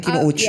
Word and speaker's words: Kinouchi: Bakit Kinuchi yung apelido mo? Kasi Spanish sila. Anong Spanish Kinuchi? Totoo ba? Japanese. Kinouchi. Hindi nga. Tama ba ang bigkas namin? Kinouchi.